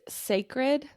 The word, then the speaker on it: Cecred: Yes, it's sacred, but it's spelled Cecred, but I it's love pronounced that.